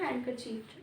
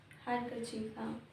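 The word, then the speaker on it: handkerchief: pronunciation में नहीं आता रुमाल को बोलते है हैंड करची डी साइलेंट है हैंड करची प्रिविलेज आई थ इट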